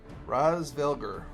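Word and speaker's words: Hraesvelgr: I think that's how it Raz, because I know the H is silent. I remember that, so it'd be Razvelger.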